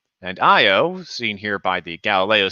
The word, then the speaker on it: Io: one right here is io and io seen here by the galileo spacecraft named after of course galileo the astronomer um is spelled like it sounds i o and it's a small